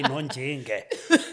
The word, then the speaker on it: Nonjinge: Apparently, it sounds closer when you say Nonjinge.